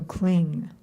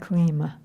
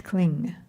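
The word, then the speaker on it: क्लीं: Half moon bindu which together form the ending like ma with a dot over it is pronounced ng like sing. So cling, it's not clean, it's cling signify the supremely ecstatic sweetness derived from the mutual kissing of Rada and Krishna.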